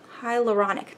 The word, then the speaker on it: hyaluronic: repurchased it, and it's basically just retinol, hyaluronic hyaluronic, that's how you say it.